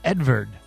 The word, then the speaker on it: Edvard: It's Edvard.